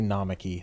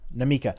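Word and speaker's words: Namikka: I keep wanting to say Namaki. That doesn't sound right, though. Is it weird to you how a bunch of people, like, oh man, this is going to be hard to pronounce when they're pretty easy to pronounce all these names? You think they're easy? Namika. I was close.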